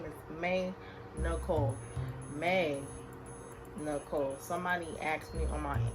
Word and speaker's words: maeenicolee: Maeenicolee. Somebody asked me on my Instagram, asked me in the DMs, how do I pronounce my YouTube name? And my YouTube name is maeenicolee.